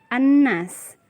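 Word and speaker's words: النَّاس: lam syamsiah alif lam syamsiah adalah huruf lam yang tidak dibaca atau dilewati saja dan pelafalannya masuk ke dalam huruf setelahnya dan biasanya terdapat tanda tasydid pada huruf setelah lam contohnya terdapat pada penggalan kata di surat an-nas Hai Annas Bunda tidak baca lamnya tapi langsung masuk atau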